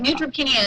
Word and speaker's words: neutropenia: but you'll correct me you said it right neutropenia is a low white blood cell count okay